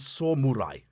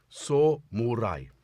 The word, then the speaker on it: samurai: synth Samurai of which I now know how to correctly pronounce Samurai which is s murai s murai there you go that's